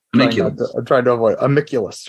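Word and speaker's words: Amicvlvs: your first work, I'm afraid I'm going to mispronounce it. So I'm like, trying to avoid Amiculus, right?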